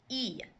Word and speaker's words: y: mayor my your and the letter Y by itself like I said earlier actually means an and in Spanish and it's pronounced e come on e so